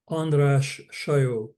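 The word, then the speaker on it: András Sajó: Dear friends, I have the honor today to welcome Professor Professor please uh correct me in the pronunciation. It's Andras Saj. Andra say Andra say okay professor Andra say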